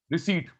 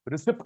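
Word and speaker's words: receipt: Future वाली estimated, plan anticipated, thank you, anticipated, रिसीट। अच्छा, इसको रिसिप्ट नहीं बोलते, रिसीट बोलते हैं, पी साइलेंट होता है।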